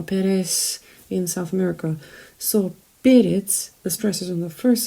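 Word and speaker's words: перец: slutky periods now periods sounds a little bit like a spanish name perez you know perez in south america so peritz the stresses on the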